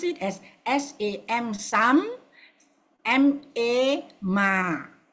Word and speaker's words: Samma: So you pronounce it as SAM, Sam, MA, Ma. The A is long.